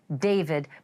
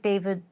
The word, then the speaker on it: D4VD: A name that is pronounced David, but spelled uh D4 V D. Looks like David.